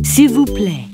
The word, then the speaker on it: s'il vous plaît: S'il vous plaît.